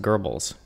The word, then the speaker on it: Goebbels: It's pronounced Goebbels. Oh, you're right. Sorry, Goebbels.